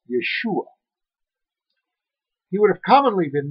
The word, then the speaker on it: Yeshua: In Galilee, the region where Jesus grew up, they spoke a dialect known as Aramaic, and in that tongue his name was pronounced Yeshua.